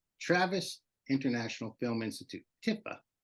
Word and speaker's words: TiFi: so nice ti ti Tiff you say tiffa nobody said it like that T I always say Tiffy oh I'm saying it wrong then maybe no no no so you can say it either way long as you